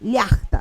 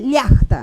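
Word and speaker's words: llaqta: Que cuando yo veo una palabra quechua, yo sé cómo acentuarla porque casi todas las palabras del quechua llevan el acento de pronunciación en la penúltima sílaba, ¿no?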